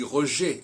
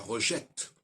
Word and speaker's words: rejet: terminé par un e la consonne finale ne se prononce pas on dit par exemple les effets on dit pas les effets parce qu'il y a pas un e après t on dit rejet et pas rejette en